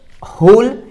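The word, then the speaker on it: whole: हमारे सामने लिखा है होल इसको भी हम होल पढ़ते हैं क्योंकि इसमें डब्लू रहता है साइलेंट इसको भी होल पढ़ते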